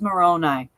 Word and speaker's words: Moroni: She goes, I'm sorry, I was mispronouncing Moroni. It's Moroni.